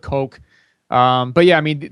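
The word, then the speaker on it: Koch: brothers yeah or yeah it's either pronounced cotch or Coke I've heard kooch um but yeah I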